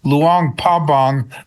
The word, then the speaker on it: Luang Prabang: So, it's spoken Luang Pabang, but it's spelled Luang Prabang, right?